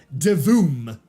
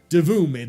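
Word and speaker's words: Divoom: the same company called De Voom. It is Doom. And let me spell that out for you. D I V O M like D div.a and Zoom together. D Voom.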